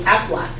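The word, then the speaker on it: Aflac: blah blah blah but we say afflac we don't say and we always try to sound like the duck when we say that afflac um a we use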